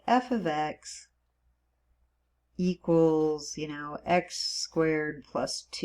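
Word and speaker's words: f(x): the function of X okay so it's the F ofx it's pronounced F ofx so f of x it's not f * X it means it's a function in terms of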